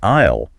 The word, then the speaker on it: isle: And the note about the silent s in isle.